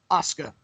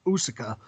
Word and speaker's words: Asuka: How do you pronounce it? Oscar? Asuka. I don't know why I was going to say Usuka.